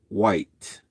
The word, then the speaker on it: Wight: But over near the United Kingdom, they have an island, and it's called the Island of Wight. But White is not spelled White. It's spelled Wyght or something like that.